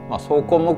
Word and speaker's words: 草根木皮: "Sōkonmokuhi" có nghĩa là, được viết là... và đọc là Sōkonmokuhi.